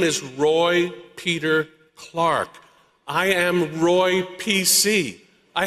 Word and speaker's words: Clark: I love returning to Rhode Island to hear my last name, Clark, pronounced like the timepiece, clock.